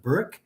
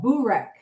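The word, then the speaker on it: börek: And Jeff, when you said the correct pronunciation of Burick, I I've made that mistake. I know I have. It's called Borrek.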